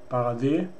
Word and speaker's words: Barade: And you know, D is pronounced as long E, E, like E, Barade in German.